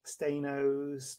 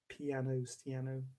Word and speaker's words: Staiano: I get all sorts. Stainos, Staignano, Stainer, Stains. I say Staiano. Stiano. Oh, is the first one. I'm presuming you know how to pronounce that. So yeah, Stiano is how I do it.